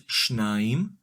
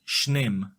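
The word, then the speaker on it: שניים: The separate masculine form of the number 2 is “shnaim” and in the construct state, it is “shnem”.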